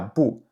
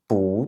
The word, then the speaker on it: 不: Donc encore une fois parce que ici, le verbe "qu" c'est un 4e ton, donc le "bu" qui va être avant va se prononcer avec un 2e ton.